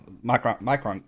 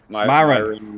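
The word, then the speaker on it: Miron: So, can you tell us a little bit about the Micron? Am I saying it right? Micron, right? Myron, Myron.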